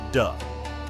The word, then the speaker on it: Te: Paired with pronounced Da, meaning inner power.